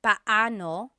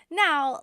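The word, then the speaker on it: paano: It's technically pano. Bano when there are two vocab or when there are two vowels together, you say them separately. But when speaking quickly, Filipinos just say now let's practice using pano and gano in some questions.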